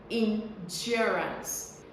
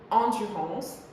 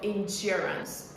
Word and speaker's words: endurance: So people pronounce it endurance as if they were speaking French instead of endurance. They don't stress the right syllable. The stress is on the second syllable, endurance.